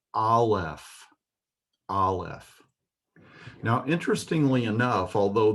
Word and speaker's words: aleph: This letter Aleph has no sound of its own. Because it's called Aleph, you might think it would have the ah or the a sound, but it actually takes the sound of the vowel that follows it.